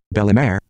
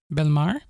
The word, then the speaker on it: Bellemare: Bellemare. Yeah, this is mispronounced. So I'd like to pronounce it Belmar.